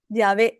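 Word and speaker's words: Yahweh: no hay consonantes entonces Cómo se pronuncia la palabra yah es así ese es el yavé eso es como se pronunciaría la palabra yavé qué cuestión tan hermosa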